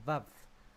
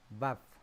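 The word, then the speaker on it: וָו: Algunos lo registran como una W. De ahí viene que se pronuncia a veces como wa, wap o wow. Nosotros preferimos el uso tradicional de vav, vav, pero ambas son correctas y aceptables.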